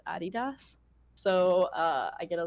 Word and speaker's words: adidas: but uh they're sponsored by um adidas or adidas is apparently the correct way to say it uh in america we say adidas but it's actually supposed to be pronounced adidas so uh i get a lot of stuff